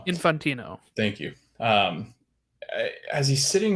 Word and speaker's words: Infantino: I did wonder, though, like, as the FIFA president, I'm not even going to try to pronounce the name. I never get it right. Infantino.